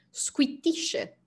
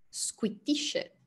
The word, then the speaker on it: squittisce: poi nella seconda linea dovete fare attenzione al qui qui ovviamente la pausa prima della t e poi c'è squittisce squittisce e poi scoiattolo è